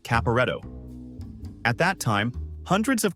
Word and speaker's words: Caporetto: I think it's pronounced Caporetto.